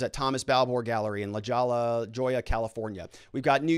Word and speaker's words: La Jolla: jose and then also in la jolla i think is how you say that then over here in